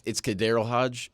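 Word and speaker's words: KhaDarel Hodge: the Falcons, sorry if I mispronounced his name, Kahadarel Hodge. Have a day, kid. 3 receptions, 75 yards. I'm sorry if I said your name wrong, but it's not for disrespect, it's for respect. It's Kadarel Hodge, but I only know that because I was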